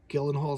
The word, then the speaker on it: Gyllenhaal: You know, Jake Gyllenhaal, is how you say his name.